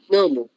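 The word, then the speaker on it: νόμου: Nomu. Exacto, porque recuerden que este diptongo OU se pronuncia como U.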